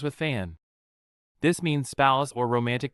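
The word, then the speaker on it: แฟน: Pun rhymes with fan. This means spouse or romantic partner. Again used only in the third person. Fan fan fan.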